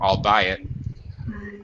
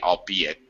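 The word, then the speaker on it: albeit: be it or or I'll buy it I've heard it pronounced both ways I think it's supposed to be I'll be it I uh it's similar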